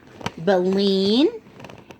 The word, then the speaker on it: baleen: have Bellinis here it tells you how to pronounce it baleen catches the tiny sea animals and plants and